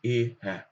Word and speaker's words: Ehe: Haben wir wieder praktisch mit den Silben zu tun, dass dieses E lang ausgesprochen wird, aber das H ein bisschen anders. Also das ist ein spezifisches Wort. Dort sagen wir praktisch Ehe.